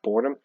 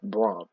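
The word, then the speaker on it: Brohm: I mispronounced this name I thought it was Jeff boredom it's Jeff Braum so I apologize for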